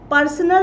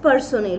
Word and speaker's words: personnel: Personal nahi hai. Mind the spelling. It is not P-E-R, pers. Null, NL. It is not personal. It is personnel. So the pronunciation is personnel.